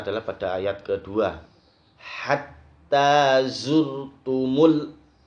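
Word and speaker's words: زرتم: Hatta zurtumul. Nah, zurtumul ini dibaca zurkumul. Zurkumul.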